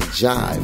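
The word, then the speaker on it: Jhyve: All right, let's jump into the first song by my man Jive, and that's spelled J-H-Y-V-E, and it's called Play Safe.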